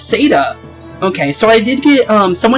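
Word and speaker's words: Caeda: Oh, it's Seda. Okay, so I did get, someone ended up yelling at me saying, it isn't Kada, it's Seda. Honestly, it doesn't really matter.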